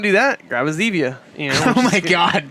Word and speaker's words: Zevia: If you don't want to do that, grab a Zevia. You know. Oh my God, dude. What? Isn't it Zevia? Zevia. Is it Zevia? Like stevia, the sweetener.